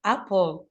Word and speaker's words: apple: كان في عندي كلمات غير منتظمة زي كلمة apple، صوتها هنا short رغم أنها تنتهي ب letter E. So this is magic E but we pronounce it short.